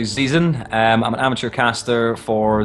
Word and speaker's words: Zeazin: His name is a name that I keep butchering, so I'm going to say it wrong on purpose. Just let you know I'm saying it wrong on purpose. Zeazin. Close. It's my name is actually Zeazin.